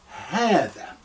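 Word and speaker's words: هذا: That's why in the transliteration, I will double A to say ha, haadhaa.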